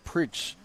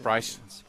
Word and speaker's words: Price: i've been yeah so i've been saying his name preach pritz or i would just say john yeah i wasn't i was never sure how to say his last name yeah like like price like price uh in english right okay i got you